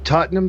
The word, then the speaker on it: Tottenham: aren't familiar with the legend it's the the Tottenham fan how do you pronounce it again Tottenham Tottenham yeah he had